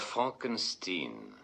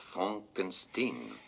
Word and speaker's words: Frankenstein: Docteur Frankenstein, je vous demande pardon. Mon nom, monsieur, se prononce Frankenstein.